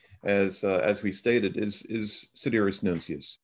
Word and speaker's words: Nuncius: The topic is Sidereus Nuncius, or if you're into classical Latin, Nuncius. I will remain with Nuncius because it is the more familiar pronunciation.